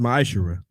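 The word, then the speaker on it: מעשר: malachi 3 8-10 means 10th in the hebrew and it's pronounced maishira 10 of every penny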